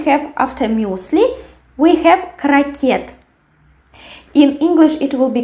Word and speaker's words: крокет: Then we have, after muesli, we have крокет. In English it will be croquet. And in Russian it will be крокет, and we write T and we pronounce T. And the stress falls on the last syllable.